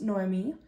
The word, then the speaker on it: Noemi: the beginning my name is Noemi it's pronounced Noemi and I am a Scorpio my birthday is on November 11th 11 11.